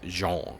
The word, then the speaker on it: Jean: That's pronounced the same way as Jean, of Jean-Luc Picard fame, for the Star Trek nerds amongst you listeners. Which, as you can easily hear, sounds a lot like Sean, a name that none of